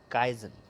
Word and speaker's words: Kaizen: It is pronounced as Kaizen.